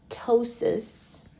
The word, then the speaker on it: ptosis: Uteri, uteri, and remember ptosis, the P is silent, so you can just not say the P.